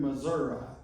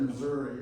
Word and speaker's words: Missouri: horse whisperer in southern Missouri. Her daughter in her tribute gave the instructions as far as what the proper pronunciation was. Otherwise, I probably would have said Missouri or something like that.